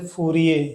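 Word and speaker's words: Fourier: हम लोग आवर्ती फलन के संदर्भ में जोसेफ फूरिये, हिंदी में फूरिये पढ़ते हैं, स्पेलिंग फूरियर टाइप की है, का कथन एक बार ध्यान से देख लेते हैं।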